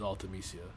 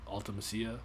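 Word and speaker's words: Ultimecia: favorite um final fantasy villain is uh is altemisia or is it ultimacia i'll actually yeah you got right first time i think ultimacia that's how i was pronouncing it um oh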